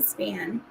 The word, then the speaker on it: Spahn: Maybe they say it's Spahn. I don't know. No, they do the eh. So it'd be Span.